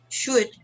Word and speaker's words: should: So here, which ones are silent? Which are the silent letters? The first one is L. L. Number 2, E. E. Number 3, L. L again. L again. Number 4, K. Number 5, E. Number 6, G8. GH. GH. Might. They are never pronounced. They are always silent.